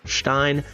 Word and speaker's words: Stein: made or Stein Maiden I know people get angry at my pronunciation but I lived in Germany for a year I've been dating a German woman for 5 years it is pronounced Stein it's a cool skin